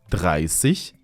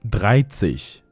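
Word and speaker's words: dreißig: Except for 30. This ends with sich, not zig. That's why we pronounce the number 30 in German like that. 30, not 30.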